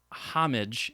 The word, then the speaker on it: homage: little bit about um homage and homage and i don't feel like getting into that um so yes sometimes the h is pronounced but what i've what